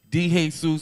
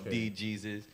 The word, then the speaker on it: DeJesus: I've been calling you Dejesus, and you never corrected me. I don't understand why. Because it could be pronounced in different ways. It's Dejesus, it's Dejesus, it's D-Jesus, or De-Jesus.